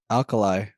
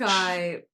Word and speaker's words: Alki: like pronounced alkali. No, it's not alkali. No. That's a battery. Alki Beach. Alki, it rolls off the tongue more than New York Alki.